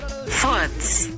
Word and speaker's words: Furz: Farts.